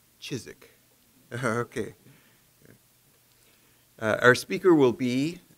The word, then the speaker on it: Ciszek: presentation this evening i thought was on father sizak but i just learned it's pronounced chizik okay our speaker will be uh carlos esparza